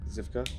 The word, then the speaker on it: Zivka: James Zivka. Am I saying it correctly? Yeah.